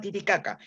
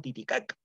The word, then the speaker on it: Titicaca: isla del sur de los españoles entendieron mal que todo el lago se llamaba tití jaja y como no podían pronunciar bien la jota como fonema del quechua cambiaron la jota por la cnte y lo llamaron años más tarde titicaca y con ese